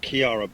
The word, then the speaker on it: Kira: If I got that right, it's pronounced Kiara, but anything will do.